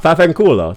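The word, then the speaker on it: vaffanculo: Ah, Fafenculo. There you go. That's much easier to pronounce.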